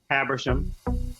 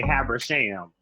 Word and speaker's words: Habersham: But if you're from Georgia, you say Habersham. And Andrew's from West Virginia. Yeah, so that explains why I wanted to pronounce it Habersham.